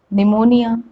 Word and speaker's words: pneumonia: is silent letter p p is not pronounced in the combination ps and pn and there are ample examples about it psychiatrist psychology psychologist psychotherapy psychotic then pseudonym pneumonia pneumatic so many examples